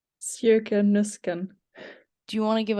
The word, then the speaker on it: Sjoeke Nüsken: Okay, I can pronounce it like really clearly and slowly. It sounds weird, but if I do it like that, but it's Sjoeke Nüsken.